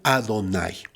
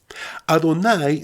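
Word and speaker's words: יהוה: Por regla general, en todas las escrituras en donde aparecen estas 4 letras, Yod-Ke-Vav-Ke, se pronuncia Adonai. Adonai significa el Señor, el Todopoderoso, el Rey del universo.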